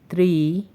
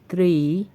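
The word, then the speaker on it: три: অতঃপর ত্রি। আবারো বলছি ত্রি ত্রি বা তিন।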